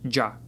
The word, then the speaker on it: ya: In Colombia, Kuba, Puerto Rico, Dominican Republic, and some parts of Mexico even, it's popular to pronounce ya as the light sound. Ja ja. So instead of saying yas, people may say javas.